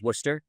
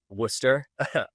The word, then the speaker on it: Worcester: So, um it's pronounced Worcester by the way before I pretty close though. I I I almost had it. Worcester.